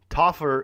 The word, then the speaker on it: Topher: point that he said Topher is pronounced like offer with a T so he's taught top